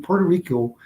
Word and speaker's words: Puerto Rico: words correctly in the in Puerto Rico people when they say they are they usually sell L's like ptoo they'll say ptoo and instead of say name Puerto Rico and but Willie Willie pronounces with Spanish with r really good and I'm not making